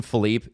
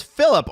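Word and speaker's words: Philippe: gour Miller calls him Philipe Jesse you have the pronunciation list and it says Phillip on the Leaf's official pronunciation list yeah and people some people have told me that it's philli a lot of the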